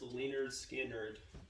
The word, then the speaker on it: Lynyrd Skynyrd: Alright, this one is pronounced Lynyrd Skynyrd by Lynyrd Skynyrd, the Florida Southern rock band.